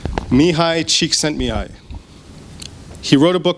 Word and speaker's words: Csikszentmihalyi: Or can anyone pronounce his name? It's Mihai Csikszentmihalyi.